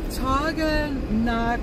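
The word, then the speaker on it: Taughannock: So we're going to Taganak. Let me see if I said it right, Anne-Marie.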